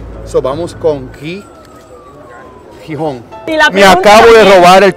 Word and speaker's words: Gijón: extranjera nos dicen que la g delante de una e o una I tiene un sonido fricativo velar sordo O sea a ver